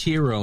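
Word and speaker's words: gyro: But yes, that that's uh And it's pronounced hero, not gi.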